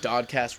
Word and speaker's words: DOD-Cast: And it's just DOD-Cast rhymes with podcast, so it made sense.